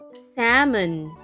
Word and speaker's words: salmon: Salmon. S A L M O N. Let's spell that again.